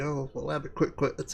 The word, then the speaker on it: Albuquerque: We're off to Albuquerque. It's Albuquerque. Oh, well, Albuquerque. That's how it's spelt.